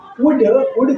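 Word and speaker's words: would: उड का मतलब दागे, और उल्ड नहीं पढ़ेंगे, उड पढ़ेंगे, इस एल का उच्चारण नहीं होगा।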